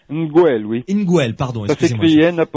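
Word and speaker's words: Ngwel: Eta Neguel. Nguel, oui. Nguel, pardon, excusez-moi. Ça s'écrit N'-G-W-E-L.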